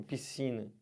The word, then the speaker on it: piscina: Eu sei, só que SC, eles não podem ser pronunciados numa palavra que depois desse SC você tenha E ou I. Por exemplo, piscina. Aqui, você tem um I. Se fosse um E, tipo nasceu, também não pronuncia.